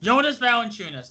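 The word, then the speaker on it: Jonas Valančiūnas: Jonas Valanciunas.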